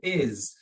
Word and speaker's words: is: E o is. Esse som final não comentei, mas o som do s aqui é o som do Z, tá?